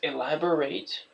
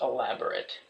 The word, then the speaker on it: elaborate: One thing I want to point out about this word is it has two common pronunciations. There's elaborate, and then there's elaborate.